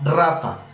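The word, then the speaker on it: Rapha: tu sanador esa expresión en hebreo es jehová rafa para los que les gusta tomar apuntes s rafa se escribe r ap h como rapa con la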